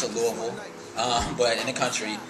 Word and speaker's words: Louisville: I was born in Louisville Kentucky as we pronounce it Louisville um but in the country so I'm a